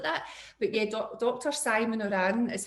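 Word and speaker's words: Ourian: to be like that but yeah dr simon iran is how you pronounce that and he's a very very popular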